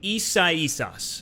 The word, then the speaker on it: Isaias: And, you know, maybe this was a blessing in disguise because we just had Hurricane Isaias, and I believe I said that right.